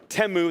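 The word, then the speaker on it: Temu: They aren't afraid to order chief stuff from Teu. That's actually how it's pronounced.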